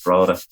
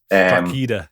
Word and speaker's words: Drogheda: That's how you pronounce Drogheda by ignoring most of the letters in it. So it's Drogheda. Drogheda.